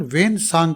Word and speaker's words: ह्वेन सांग: प्राणघातक यात्रा रही होगी उनका नाम चीनी भाषा में सुवान जांग अंग्रेजी भाषा में ं सांग तथा हिंदी में स्वंत सांग लिखा जाता है पांचवीं छठी कक्षा से हम लोग उनका नाम का उच्चारण वेन सांग करते र रहे हैं चीन में बौद्ध